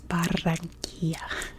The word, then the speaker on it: Barranquilla: It's Barranquilla. You gotta roll that R.